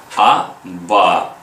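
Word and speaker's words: אבא: як Бейт б б аба в кінці Алеф також не читаєся тому що під ним немає огласовки Ані ло бачите ламет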